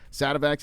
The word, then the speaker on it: Sativex: its homegrown cannabis going into its licensed drugs, Sativex. Is I pronouncing that right, Mike? Yeah. Sativex, and epilepsy drug, Epidiolex.